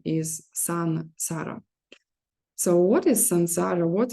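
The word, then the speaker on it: संसार: in Sanskrit uh uh before uh s it should be always n so son Sara uh and people who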